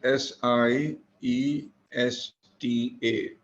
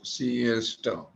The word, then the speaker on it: siesta: know the meaning of the word siesta it is spelled as s i e s t a s i e e for England s again t t a s-i-e-e-a she is it is pronounced as siesta siesta foreign taking a small nap after having